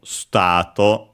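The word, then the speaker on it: スタート: We check uh its accent, but it should be I think accented. Yeah, as expected on the T. So, uh as a reminder, uh the in S is barely heard if at all because it's between unvoiced consonants.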